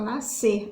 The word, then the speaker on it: nascer: pronunciar mais ser então a gente fala nascer a gente tira o s aí tá certo pessoal espero